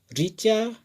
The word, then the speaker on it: ऋचा: उच्चारण करके देख लीजिए, ऋण, ऋचा, ऋषभ और ऋषिकेश, सभी में छोटी ई के जैसा ही आवाज है।